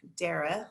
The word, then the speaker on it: Dara: And I am here with Dara, like Sarah, and I'm just always going to say that because that's how I learned to say her name correctly.